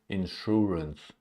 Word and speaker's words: insurance: insurance insurance insurance in is unstressed insurance and we have a short year insurance insurance Sun sunshine